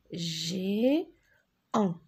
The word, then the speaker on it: géant: ensemble pis peau le g en la lettre t je ne le prononce pas vva v à à